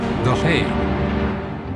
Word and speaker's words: The Hague: And what does plague rhyme with? That's right, The Hague.